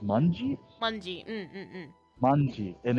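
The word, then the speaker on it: 卍: No, it's actually in Japanese. It's pronounced manji.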